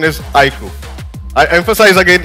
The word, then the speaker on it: iQOO: The pronunciation is IQ. I emphasize again, it's IQ.